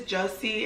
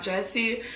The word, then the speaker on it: Jussie: like I'm I apologize I believe it's Jesse and not Jessie so I want to